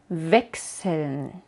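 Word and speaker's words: Wechsel: una S como en vexel cambiar o vaken crecer Así que chs es x y no sh y a veces también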